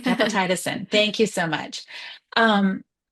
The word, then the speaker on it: gepotidacin: It's gepotidicin. Gepotidacin, I think. Gepotidacin. Yeah. Now I'm looking at it. That's right. Gepotidacin.